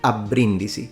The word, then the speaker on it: a Brindisi: name of the city even though the bee is single in standard Italian this should not be pronounced but it should be pronounced abrindisi with a double b now I know that